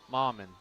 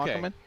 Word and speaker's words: Mockerman: Clay Mauman, maybe is how you pronounce it. I apologize if I butchered that, but I think it's – what is it? Mauman. Okay. Mockerman? Mockerman, okay. Mockerman. So Clay Mockerman and Brandon